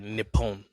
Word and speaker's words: Nippon: Yeah, when you're uh pronouncing words that have the same letter repeatedly, you got to like slightly pause and drag. So, like Nippon.